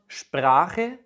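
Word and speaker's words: Sprache: German शब्द स्प्राche मतलब भाषा स्प्रेशन से आता है, और स्प्रेशन का मतलब है बोलना।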